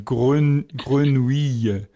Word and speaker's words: grenouille: the French word for frog is Grenouille, which we would pronounce Grenouille. Yes. Let's try again. Grenouille.